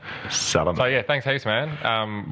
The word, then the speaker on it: Salame: It's Salame. Yeah. So it's spelled like salami, but with an E. With an E instead of an I, yeah. But it's pronounced Salame. Salame.